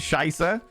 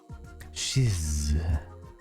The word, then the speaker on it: Shize: Now shiser more like rhyming with jizz. Yeah, but there's it it can't be shiz. There's no like it's got an E on the end. It's got an E on the end. Shiz.